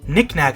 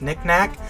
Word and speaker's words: Knick-Knack: We got our pal Knick-Knack. I love these guys' names, Knick-Knack, because it rhymes with Click Clack, the Beatles from the second game.